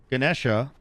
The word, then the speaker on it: Ganesha: Technically, there's 2 ways. There's Ganesha, which is the way they say it in the game.